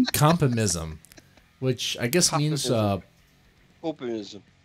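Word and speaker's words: Kopimism: Oh, pronounced copy meism. Copy meism.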